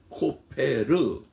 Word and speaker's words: 코페르: 14절에 소개된 나무입니다 고페르 그런데 그 고르의 발음이 역과 비 합니다 역청을 코페르 이렇게 발음합니다 그런데 그 코페르 역청